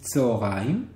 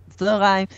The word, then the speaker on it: צהריים: Now, a note here: many Israelis do not say צהריים, do not pronounce it צהריים, though it should be pronounced like that. They say צהריים. Okay.